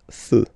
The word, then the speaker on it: feux: You don't put S, but you will put X instead, and then you don't pronounce it. Des feux.